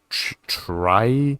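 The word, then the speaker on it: trie: a optimized binary tree known as a try it's spelled t-r-i-e it's the most common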